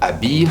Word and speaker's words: habille: Habille starts with a silent H, M apostrophe.